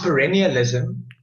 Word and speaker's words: perennialism: you pronounce it exactly true Perri it is pronounced perennialism and it's named after your perennial means something